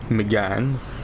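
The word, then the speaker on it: Mégane: Hey, is that a Megane? Or Megane, as it supposedly is properly pronounced?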